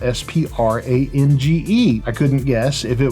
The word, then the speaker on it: Sprange: right and he said it's uh sprang as in it rhymes with strange so his name is matthew sprange which is it's a